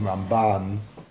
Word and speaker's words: Ramban: Put the pronunciation of Rambam on the first half of the word, and Ramban, put the pronunciation on the ban, so you can hear Rambam, Ramban.